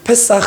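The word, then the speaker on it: פסח: 얘기잖아요 그렇죠 영어는 패오 사실 어 히브리어 언어도 유월절이 패사 이렇게 발음합니다 영어랑 좀 비슷하죠 그래서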